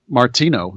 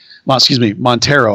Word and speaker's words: Martino: So one of which is Martino. So, it's not Montero. I can pronounce his name correctly.